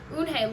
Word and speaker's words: Unhei: Unhe looked quickly at Mr. Kim, then turned to Joey. She nodded slowly. "Yes, it's pronounced unhe and it means grace," Mr.